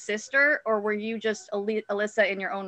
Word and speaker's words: Alyssa: Is Alicia or Alyssa? How do we pronounce it? Alyssa.